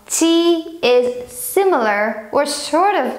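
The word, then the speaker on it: 鸡: For example, if you want to say chicken, the animal chicken, you say ji first tone, ji.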